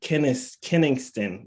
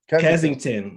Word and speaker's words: Kensington: Rick, hailing from North Philly and Kenningston. Is that how you say it? Kensington, my bad.